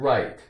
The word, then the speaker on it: right: side hears the word right are i ght right right gh is silent ruff i right okay